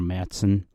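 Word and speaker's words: Märzen: liked Sam Adams but I like marzins I like or Matson the correct way to say it in German which are kind of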